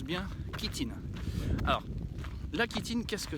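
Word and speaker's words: chitine: c'est un qui s'écrit shitine mais ça se prononce bien qui tin alors la quétine qu'est-ce que c'est la kitting qu'est-ce que c'est en fait c'est ce qu'on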